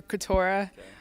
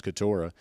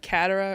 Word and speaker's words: Keturah: KK stands for Keturah.